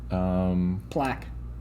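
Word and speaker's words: Plak: Plaque. Plaque. T. Spelled P-L-A-K. Plaque. Plaque.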